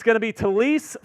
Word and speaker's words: Taliesin: So all of the pronunciation guides say Fuaga. Taliesin Fuaga. Yeah, Taliesin. And then at a Senior Bowl interview, he's like, no, it's Talise Fuanga.